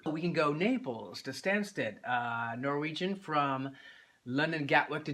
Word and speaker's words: Stansted: That would have been Naples to Stanton. That's pretty much London. I'm not pronouncing it right. It's actually Stansted.